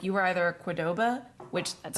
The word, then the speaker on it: Qdoba: where it was like you were either a Qdoba, which that's how you say it, and I refuse to acknowledge any other pronunciation.